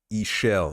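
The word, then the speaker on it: Ixchel: the new Mayan goddess ishel apparently is how you spell it out which is not what you would guess if you see the name written out I initially thought her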